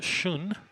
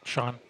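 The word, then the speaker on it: schön: for a beautiful in the the actual German pronunciation is soon but the American pronunciation is just Shawn some people try to act like they know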